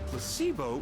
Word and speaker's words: placebo: after me placeo H the stress is on the middle Sy very good you're figing interest well a placebo is a pretend pill